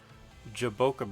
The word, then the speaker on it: jaboca: find a berry full of it's they're called jaboca berries it is spelled j a b o CA and you